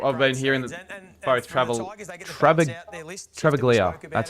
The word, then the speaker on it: Travaglia: I've been hearing that both Travaglia, that's how you say his name, and Toru